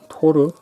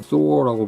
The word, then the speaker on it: Thor: 그리고 토르? 우리는 토르라고 부르고 있는데 영어를 사용하는 국가들은 소어라고 부르고 있어요. 소어. 어 발음으로 끝나는 게 아니라 어는 좀 발음을 강하게 하지 말고요. hello 이런 느낌으로.